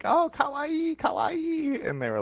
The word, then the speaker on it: kawaii: US know the word kawaii. Oh, that makes sense. Granted, they probably don't pronounce it correctly. They probably just say like kawaii. Like they don't like kawaii, not instead of kawaii, they don't lengthen, because technically it's kawaii, right?